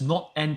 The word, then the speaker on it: NAND: Now, the first one is what I call NAND, or not and, pronounced as not and chips.